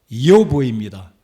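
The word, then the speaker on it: איוב: 여러분, 이 욥이라는 사람의 히브리어 발음은 이요브입니다.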